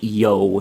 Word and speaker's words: You: As a matter of fact, uh we are now in It says U Province, but this is pronounced Yo, if my Chinese is correct, uh whoever originally